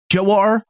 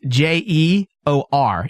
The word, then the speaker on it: Jeor: who is Joe are jawar Mormont is how you pronounce this fella cuz there's two different ones it's je Oh are really so you know